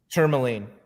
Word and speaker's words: tourmaline: Is it the tourmaline?